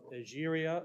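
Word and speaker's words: Egeria: This is from the diary of the pilgrimage of Algeria, or sometimes you'll see her name spelled and pronounced Etheria.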